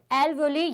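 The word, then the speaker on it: alveoli: क्या कहते हैं, एल्वोली या फिर एल्वोलस। इसका प्रोनाउंसिएशन अलग अलग मिल जाएगा, लेकिन अपन जनरली इंडिया में इसको एल्वोली प्रेजेंट करते हैं, ठीक है।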